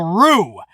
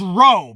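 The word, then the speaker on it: Roux: had their baby girl rue i thought it was ro because it's spelled r-o-u-x but i i think i heard tom phillips say rue so whether it's row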